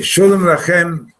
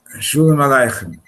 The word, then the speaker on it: Shalom Aleichem: Okay, Shalom Lachem, Rabbi Isai. Let's give this the right pronunciation for a change. Right? Shalom Aleichem.